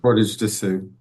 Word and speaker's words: Portage des Sioux: Portage des Sioux? Portage to Sioux.